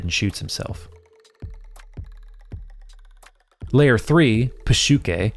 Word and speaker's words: psyche: shoots himself layer three PUK the series uses the original Greek pronunciation for psyche begins with Lane and